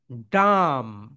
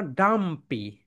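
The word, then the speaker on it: dumb: ওয়ার্ডের শেষ লেটার যদি এমবি হয় তাহলে বি এর উচ্চারণ হয় না, বি থাকে সাইলেন্ট।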